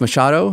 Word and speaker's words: Machado: Today, I'm back at my studio, volume 11, and I'm here with Jeff Machado. Am I pronouncing that correctly?